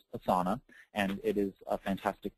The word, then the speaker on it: Asana: term Asana is pronounced Asana but this is pronounced assana and it is a fantastic tool it's free